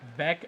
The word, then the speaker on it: Beck: His autobiography is Beck as in wreck.